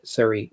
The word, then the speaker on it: Surrey: sh t --d and that's not how you pronounce it it's a sh did Surrey England so sorry like in Harry Potter but it's sorry England is one of the the places that we